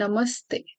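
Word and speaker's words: नमस्ते: But while pronunciation you have to pronounce it as namas the so half so will be like this and namaste like this. So the sounding should be attached to the before one. So namaste.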